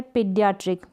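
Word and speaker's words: pediatric: अगर दो वोवल्स है, ए और ई साथ में आ जाए तो हम इन दोनों को क्या पढ़ेंगे, कंबाइंड वोवल्स को बड़ी ई के रूप में आप प्रोनाउंस करेंगे।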